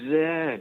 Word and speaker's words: Z: So, being in Canada, I know that Z is pronounced Zed, not Z, so why don't they call you Mr.